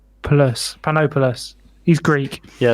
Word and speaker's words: Panopoulos: canned fruit that Chatham, Ontario restaurant owner Sam Populomopoulos placed on a standard tomato and cheese pie, quote, just for fun, alongside bits of ham. I should pronounce his name properly. It's Panopoulos.